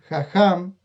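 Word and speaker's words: חכם: Por eso allí vamos a encontrar una palabra que es jajam, que se escribe hakam o hakam, de la que viene jajamim, que es la palabra que es el plural de jajam.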